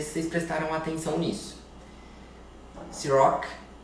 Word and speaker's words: Cîroc: Ciroc, o Rzinho da França.